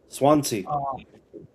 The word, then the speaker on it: Swansea: Uh yeah, except in I don't know how to pronounce that city. Swansea.